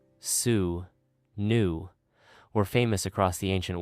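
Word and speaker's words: swnw: Ancient Egyptian doctors called Swinnow, pronounced sue new, were famous across the ancient world.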